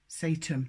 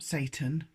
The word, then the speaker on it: Satem: Satem, not Satan, S-A-T-E-M.